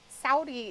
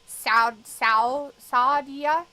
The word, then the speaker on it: Saudi: Saudi is just S-A-U-D-I. I was like, why is she pronouncing it so stupid? Toasty Marshmallow was pronouncing Saudi. Saudia.